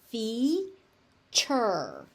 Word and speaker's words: feature: So again, we got a TU in there. So it's feature.